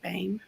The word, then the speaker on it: Boehm: as under bain and then um my website which is ticking across and uh bain and it looks like bohemian we just pronounce it bain just to throw everybody